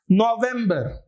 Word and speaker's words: November: November. Although V is normally pronounced as fur, but here it will not be pronounced as fur. It will be va only.